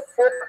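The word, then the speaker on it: folk: फोक आर्ट जिसमें ये एल एफ ओ एल L silent होता है, हम इसे फोक आर्ट बोलते हैं.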